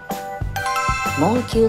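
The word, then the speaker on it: 門球: 門球と読みます。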